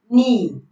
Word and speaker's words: knee: For example, knock, knee, knife, no. Now you realize that the K is before the N, but the K is silent. We don't pronounce the K.